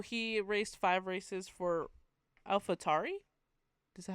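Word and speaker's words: AlphaTauri: Oh, he raced five races for Alfatari. Is that how you say it? Yeah. I did watch It's Alfhaturi is just Red Bull's junior team.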